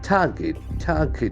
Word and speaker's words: target: Target is a very interesting noun. TAR. Get. People have confusions in this pronunciation. It's very straight. Target. target, Target. Okay, the letter G has got G sound. target, Target. The letter R is silent also.